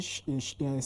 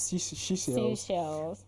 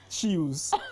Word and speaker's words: Seychelles: And for the fact that the name is actually Seychelles, Seashells. I was thinking this pronunciation of the name is Chills.